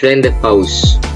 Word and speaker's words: rendezvous: And the last one is rendezvous. The Z is silent.